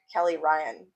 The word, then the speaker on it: Kelleigh Ryan: Kelleigh Ryan rhymes with Smelly Lion, which is Uh, why my my nickna- fencing animal is Lion.